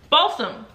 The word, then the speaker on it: balsam: one mahogany balsam honestly is it balsam or bassam like what i i don't know uh the notes in this one are juniper berry fresh balsam i'm about to google the pronunciation because how do you pronounce this let's hear it balsam i was right it it's giving me